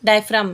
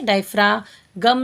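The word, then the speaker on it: diaphragm: और lower side पे डायफ्राम है, ओके। स्पेलिंग याद रखिए, डायफ्रागम ना बोलिए, डायफ्राम बोलिए।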